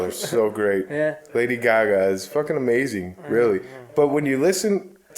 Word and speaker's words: Gaga: It's actually pronounced Gaga.